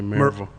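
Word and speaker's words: Maryville: So, you grew up in Mville? Yep. And just kind of like the Appalachin. You say Mville, I say Marville.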